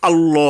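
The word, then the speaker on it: الله: আ লই হ এখানে এই যে আল্লাহ আমরা আকার দিয়ে বলি এটা ভুল আরবি টার্মে ভুল বাংলা টার্মে ঠিক আছে আমরা যে যেভাবে চালাই কিন্তু আরবি এবং বাংলা হুবহু একইভাবে উচ্চারণ করা সম্ভব হয় না আরবিটা আরবি দিয়েই শিখতে হবে তো যাই হোক আল্লাহ হবে আকার হবে না এভাবে লামের আগে ওয়াও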